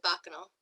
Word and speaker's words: Bacchanal: Say it properly, because I always say it wrong. It's the Blessed Bacchanal. Bacchanal.